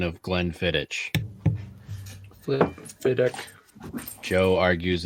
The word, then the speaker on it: Glenfiddich: See, Glenfiddich. It's not itch. Not an itch. ICH, bitch. It's ick. Ick.